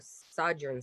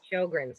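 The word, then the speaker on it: Sjögren's: diet and supplements for sergeant syndrome i'm pronouncing that wrong sjogren's shogun's okay okay okay very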